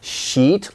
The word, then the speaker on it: sheet: if you're asking for a sheet of paper sheet long vowel if you make it short people might misunderstand you and be surprised or